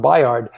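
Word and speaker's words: Bayard: buyer wrestling's name so it's spelled b-a-y-a-r-d but it's pronounced biard so there's a little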